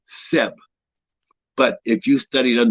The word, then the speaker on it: Geb: from its generical extraction we know that seb is the proper way to pronounce the name when you evoke the earth and his and his her powers and of life and energy you don't call him kemp you don't call him geb because you're you're fauna